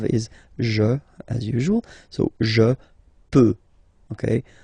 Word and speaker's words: je peux: je, as usual, so je peux, okay? Final x not pronounced here, okay? So you get x, but you don't pronounce it, so basically you get the sound peut, je peux.